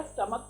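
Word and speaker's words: stomach: Classes okay now forward परंतु यदि शब्द के अंतिम दो लेटर सी एच के उच्चारण की तरह हो तो केवल एस लगाकर ही प्लुरल बनाया जाता है। जैसे मोनक्स का मोनक्स हो गया, स्टमक का स्टमक हो गया।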